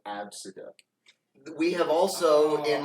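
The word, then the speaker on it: Abcde: Pronounced Absida.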